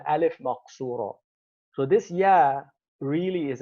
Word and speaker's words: alif maqsura: and that is called alif maqsura. Um, it's an it's an alif written as a ya. It's written as a ya, pronounced as an alif.